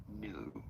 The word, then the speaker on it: GNU: New is how it is said. The G is silent.